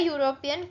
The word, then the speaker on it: European: Conversely, a European country because EU sounds like YU, so we use A before European country.